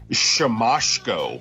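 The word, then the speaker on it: Siemaszko: asks him to say his name and it's sham masko which I would have never wow really shamco yep oh wow well see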